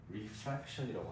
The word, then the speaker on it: refraction: 반사는 L versus reflection이고요. 굴절은 R을 쓰죠. refraction이라고 합니다.